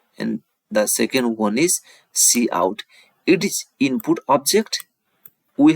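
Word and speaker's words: cout: yes it contains the Declaration for C in C out statement it is pronounced as C in it is pronounced as see out so now move to the second we will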